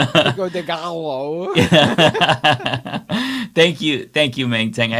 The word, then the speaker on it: Pico de Gallo: David, love you long time, but Gallo, you don't get a Canadian pass for that poor pronunciation. Oh, the Pico de Gallo. Pico de Gallo.